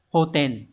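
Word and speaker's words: 補填: bổ và chữ điền từ này đọc là hoten hoten này có nghĩa là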